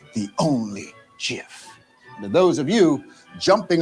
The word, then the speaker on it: GIF: original point the digital image format and its pronunciation is called GIF not g you understand that it stands for